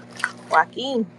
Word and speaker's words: Joaquin: Hey, Joe Quinn, if I pronounce Joaquin. it wrong, charge it to my head and not to my heart. Joaquin.